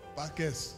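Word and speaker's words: Pâques: chrétiens c'est par et il faut prononcer le S parce qu'il y a S pas qu' s c'est-à-dire vous accédez à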